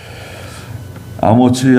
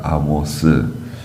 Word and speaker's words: 아모츠: 멸망시키려는 것이다 그랬습니다 예 아모츠 아들 이사야가 본 바빌로니아에 대한 경고라고 말씀하셨어요 이사야의 아버지가 이제 아모츠요 아모츠 아모스 이렇게 발음하는데 그 성경에 있는 아모스 서가 있죠 그 선지자 아모스 하고는 다른 동명 인이에 예 이사야의 아버지 아모츠